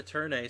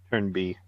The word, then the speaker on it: Turn A: A, probably turn B. No, it'll be turn a. It'll be turn a and it will literally have the pronunciation for a there.